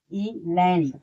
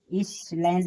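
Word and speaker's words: island: इ लैंड। यहां एस क्या है? साइलेंट है। इ एस एल ए एन ही। तो उसे क्या पढ़ेंगे? इस लैंड नहीं उसे इलैंड पढ़ेंगे।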